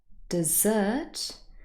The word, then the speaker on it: dessert: is the difference but if you listen carefully desert dessert the pronunciation is also quite different first of all what